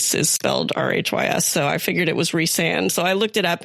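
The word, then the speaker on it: Rhysand: name, but you know, in the British Welsh kind of language, Ree is spelled Rhys. So, I figured it was Reand. So, I looked it up and it was like it's pronounced Reand, but in some countries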